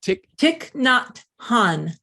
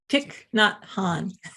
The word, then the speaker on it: Thich Nhat Hanh: I'm always struggling with this name to pronounce it. Thich Nhat Hanh. Thich Nhat Hanh.